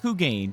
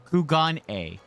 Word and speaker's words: Kugane: No, sorry, not Kugane. Kugan uh Kugan A.